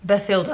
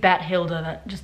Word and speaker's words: Bathilda: Bathilda, I guess is how you say the name. It wouldn't be Bathilda.